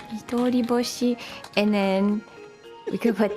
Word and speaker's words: Midori Boshi: So is it Midori Hoshi? Is that how you say it? So it's Midori Boshi, like when you combine them together. Boshi. Yeah, I saw H, and that's why I was like, oh, a Hoshi.